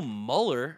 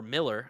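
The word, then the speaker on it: Mueller: Cubs okay we have Bill Muller or Miller I think was technically how you pronounce it uh who else were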